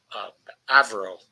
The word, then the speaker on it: Avril: Her parents decided to be fancy and to call her um, um, uh, Avril, pronounced in English as Avril.